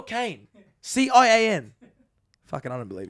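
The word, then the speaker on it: Cian: Is that how I pronounce his name, Cyan? Cat? Well, you put an I before the A. That's how you spell Kane.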